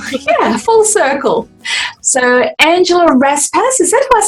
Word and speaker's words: Raspass: it it's actually pronounced raspus the um the emphasis is on the first bit that's a big name